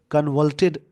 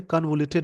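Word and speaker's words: convoluted: Delhi is not full fledge state, it's unique and कन्वल्टेड governance, इनका जो unique है, और कन्वल्टेड मतलब कॉम्प्लेक्स होता है। यहाँ पे हालांकि इसको बोलते कन्वोल्यूटेड बोल देंगे इसको, इस वर्ड का प्रोनाउंसिएशन हो जाएगा कन्वोल्यूटेड।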